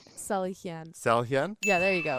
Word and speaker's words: Salihian: Salihian.